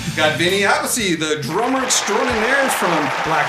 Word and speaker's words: Appice: Got Vinny Appice, the drummer extraordinaire from Black Sabbath, Dio. Actually, it's Appice.